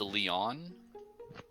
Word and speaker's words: Leon: supposed to be pronounced Leon. That's what I said. No, you got to put emphasis on the on, not the Lee.